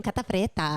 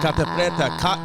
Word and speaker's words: Catta-Preta: Oh, I like how you say my name, Catta-Preta. Catta-Preta.